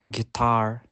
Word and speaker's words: guitar: Castle ballet sof and letter U can be silent too for example guitar guilty tongue and it and it